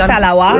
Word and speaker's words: talawa: Did I say it right? Definitely, little but we talawa.